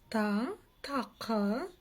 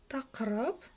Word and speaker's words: Тақырып: Тақырып. Ничего сложного, да? Буква «ы» единственная читается очень коротко. Тақырып. Но для начала читайте, чуть подольше, как в русском языке, а затем сокращайте вот это вот звучание буквы «ы».